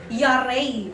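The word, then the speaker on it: yare: Ayun pronunciation Yary. Ayun type niyo nga po kung nakikinig pa kayo diyan. Y a R e. Yary. Sabay-sabay tayo. Yar. Yar. Yari. Hindi. Yari.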